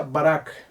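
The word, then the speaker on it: בָּרַךְ: viene procede de la raíz hebrea que se pronuncia barack esta es la palabra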